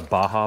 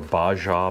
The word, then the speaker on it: Baja: this is called a baja bag or a baja bag some people who don't speak spanish so well pronounce it baja but yeah just waterproof